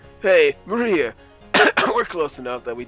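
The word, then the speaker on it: 真里亞: with this of course is pronounced Maria the third character looks like a cross which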